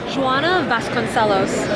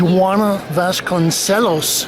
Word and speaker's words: Joana Vasconcelos: Pronounce the name? Joana Vasconcelos. She's Portuguese. Joana Vasconcelos.